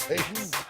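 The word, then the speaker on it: Šatan: Miroslav Satan, Okay, or so it's not Satan, pronounced Satan.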